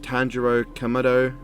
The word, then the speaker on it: Tanjiro Kamado: want to say i want to say it's pronounced tanjiro kamado kamado tanjiro from demon slayer one of the